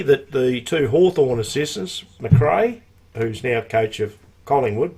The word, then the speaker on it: McRae: How do you pronounce it? McRae.